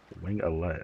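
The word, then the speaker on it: Wingalet: Wing allet.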